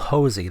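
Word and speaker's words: Hozy: So this game's called Hosy. that's spelled H O Z Y and it's from Tiny Build Publishers.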